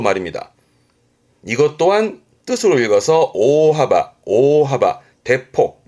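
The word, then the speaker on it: 大幅: 이것 또한 뜻으로 읽어서 오하바 오하바. 대폭 큰 폭의 오바 대수 큰 손이네요. 그래서 발음이 오대 오대 큰 손이라는 건 어떠한 큰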